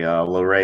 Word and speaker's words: Loray: No, you said it perfectly. Loray is the right way to say it. Most people pronounce it Lore, which is incorrect.